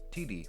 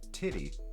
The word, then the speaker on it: Titi: Her name is Titi, pronounced T-I-T-I. Ellen said her name was Titty for a joke for the show.